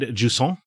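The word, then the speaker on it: Jusant: Oh yeah, I played Jusson, which I believe is the French pronunciation.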